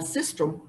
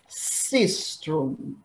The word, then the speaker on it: sistrum: Out of six instruments, three are clappers, the timbrel or the hand drum, and sistrum are noisemakers.